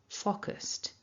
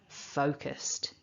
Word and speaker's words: focused: people pronounce this word focused but it's not it's a double vowel oh focused now to focus is